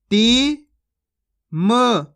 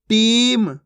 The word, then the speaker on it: टीम: उच्चारण करके पढ़ा है आपको टिम खिर चिल इस प्रकार से नहीं पढ़ना खीच खीच के पढ़ना है चील टीम खीर आप हमेशा एक बात